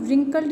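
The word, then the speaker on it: wrinkled: शी had been old एंड रिंकल्ड, ठीक है, इसमें रिंकल्ड नहीं बोलेंगे, डब्ल्यू जो इसमें साइलेंट है।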